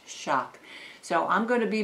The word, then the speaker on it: XOC: knife and tool company xoc pronounced shock xoc i don't know that happens but anyway it's the crkt xoc pronounced shock so i'm going to